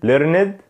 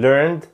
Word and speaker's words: learned: اول حاجه معانا النطق الغلط، وركد وركد وركد وركد، ليرند ليرند ليرند ليرند، واشد واشد واشد واشد. ده كده كان النطق الغلط. طيب ايه هو النطق الصح؟ worked worked worked worked، learned learned learned، washed washed washed.